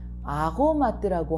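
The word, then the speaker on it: aromate: 자, 첫 번째 단어는 아로마트라고 하고 두 번째 단어는 아홈이라고 발음을 합니다.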